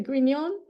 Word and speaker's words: Grignon: for you as well her name is gon I forgot to ask you is it gon um yeah it actually is properly pronounced that way so that's fine okay I